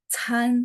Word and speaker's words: 餐: C itu ada angin ya. Chan. Jadi bacanya ada angin, seolah ada H gitu ya.